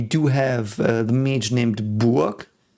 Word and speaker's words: Burg: I've heard this pronounced Burg in several contexts, and I do think in English, if you would see this would be Burg in some cities, but in German this is Burg.